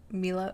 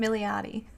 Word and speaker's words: Milioti: And of course the aforementioned Andy Samberg and Kristen Milo. I already forgot how to say her name. Had to look it up again. Kristen Milioti.